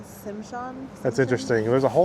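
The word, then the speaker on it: Tsimshian: The pole represents all 3 tribes of Southeast Alaska: Tlingit, Hadia, and Tishimshan. I'm totally going to pronounce that wrong, so 100% sorry about that. The T silent, Simshan.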